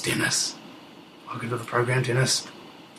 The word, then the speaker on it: Dennis: And my very special guest today is none other than a man whose name rhymes with menace. It's Dennis.